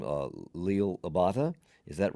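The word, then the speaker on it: Liel Abada: Uh Leil Abata.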